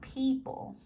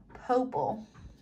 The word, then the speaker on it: people: is called the schwa people no that makes a long e sound people not poople who ooh that again